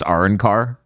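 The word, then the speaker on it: Arrancar: I don't know how the original dub says it, but in the US dub it's pronounced Arankar, just so that way we don't get through the whole episode without me noting.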